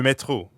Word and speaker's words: métro: And the French R is in the middle of métro, so it sounds like you're clearing your throat.